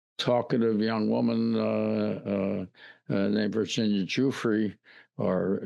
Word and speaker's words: Giuffre: One talkative young woman named Virginia Giuffre, or Giuffre, however they pronounce it. I pronounce it the way the musician Jimmy Giuffre did.